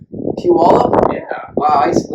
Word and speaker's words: Puyallup: Washington State, I flew in Puyallup. Puyallup? Yeah. Wow, I used to live pretty close to Puyallup.